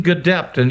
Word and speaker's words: Gedeptin: We've successfully completed phase 1 and a phase 1/2 trial, but this will be a phase 2 trial combining Gedeptin, you did pronounce it correctly, in combination with Keytruda, which is known as an immune checkpoint inhibitor.